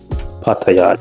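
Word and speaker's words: Pattaya: That's how the locals say it is. Paya, not paya. Paya.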